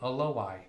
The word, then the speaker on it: Aloai: So I'm saying Aloai, pronouncing the O and the I.